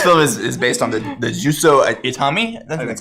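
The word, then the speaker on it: Juzo Itami: Yeah, this film is based on the Juso Itami, that's how you say it, film Tampopo, which I watched over quarantine.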